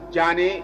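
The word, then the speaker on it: Diane: Mamadi is spelled M-A-M-A-D-I, and the last name is Jane. Is pronounced like we call Jane in Gambia, but it's spelled with the French D-I-A-N-E.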